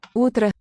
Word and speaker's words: утро: Утро. Утро. So this O also gets weakened. The accented syllable is that first one, утро.